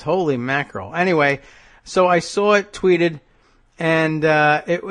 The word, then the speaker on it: Issa: different uh you can find her on Twitter spelled like it sounds TI i n a Tina Isa whatever Issa all one word that's the way it works